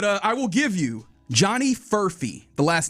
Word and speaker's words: Furphy: F-U-R-P-H-Y. Oh, it's like Murphy.